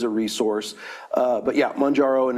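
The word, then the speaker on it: Mounjaro: Mangaro.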